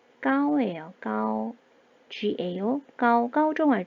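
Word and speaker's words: 高: 발음이 까오예요. 까오.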